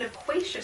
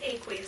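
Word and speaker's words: aqueous: you have a solution it's not an equa solution it's an Aquas solution and if you say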